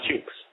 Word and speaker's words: Chuks: Is that Chooks? Did I pronounce that correctly? Hit star 7. No? Can't hear you. Can you hear me? Yeah, go ahead now. Perfect. Yeah, it's Chooks.